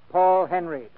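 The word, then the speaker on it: Paul Henreid: in many a day he pronounces his name Paul Henry he and ID Lupino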